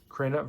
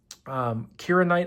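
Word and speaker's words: Kirinite: Kiranite, I think, is actually how you pronounce it. I think I mispronounced it the first two times.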